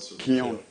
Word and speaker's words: Keown: But what actually amazed me was that the name of the town was called Kion.